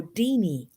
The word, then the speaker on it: Deanie: But It's so, pronounced genie, but with the D. So Deanie.